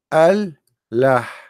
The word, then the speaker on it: Allah: says praise be to Allah now Allah it became one word through - through time because it's pronounced together al LA but in fact it is two words look what happened here